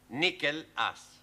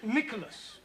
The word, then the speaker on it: Nicholas: upon a times there was a man called nickel ass that's not quite right no no once upon a time there was a woman called nickel ass it's pronounced Nicholas all right once upon a time there was